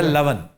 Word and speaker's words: लवन: सालन को भी तो लौन कहते हैं ना। वो लॉन कहते हैं, लावन लावन है, लेकिन लवन लून है, नमक। लून उसका मिसप्रोनाउंसिएशन है।